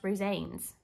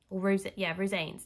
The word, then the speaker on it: Rosanes: Now, I found out his name is pronounced Rosanes. Rosanes.